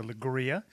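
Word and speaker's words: Leiria: go all right right we are going to lria you know which doesn't isn't spelled at all like lria it's spelled more like L right just south of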